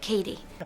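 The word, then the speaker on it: Cady: Katie I always say caddy because of the movie name is caddy caddy Heron where are you caddy that's me it's pronounced like Katie thing exactly but I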